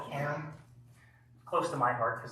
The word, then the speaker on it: Cairn: It's not Karen, like someone who's going to call the cops on you for parking in the wrong parking spot. Okay. It's Cairn, one syllable.